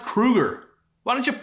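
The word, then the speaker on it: Kroeger: them did you know his name's not even Chad Kroger it's pronounced Krueger why don't you say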